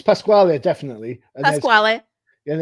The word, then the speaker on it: Pasquale: pronounce it right anyway. I don't know how would you. It's Pasquale, definitely.